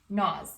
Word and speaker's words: gnaws: Okay, so every time you see a word that starts with G-N, you kind of just have to think to yourself, the G's not there, and I just say the N, pronounce the N, and move on.